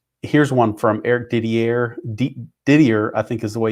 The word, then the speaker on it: Didier: in my business and we would pronounce that like DBA but I think he pronounces it Eric Didier so and he's a